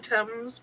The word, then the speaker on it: Thames: The body The H is not pronounced. of the Hames. Wrong letter, not pronounced. Technically, they call it the Thames, but That sounds weird.